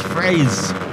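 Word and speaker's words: Friese: Behind Vince Fraze.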